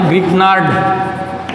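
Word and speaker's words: Grignard: तो ग्रीनयार नाम का साइंटिस्ट है, जिसको GRI ग्रिग्नार्ड, इसका जो प्रोनाउंसिएशन है वो ग्रिग्नार्ड रिएजेंट।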